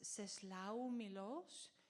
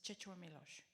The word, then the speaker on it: Czesław Miłosz: So I quote a Polish poet that you must know as Czesław Miłosz, but a Polish guy told me that you actually pronounce it Czesław Miłosz.